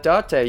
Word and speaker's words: Date: right connected what's up my name is Dante you want to go on a date with me because my name in English is spelled date my name is